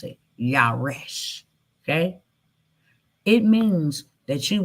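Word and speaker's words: ירש: How you pronounce it. Yaresh.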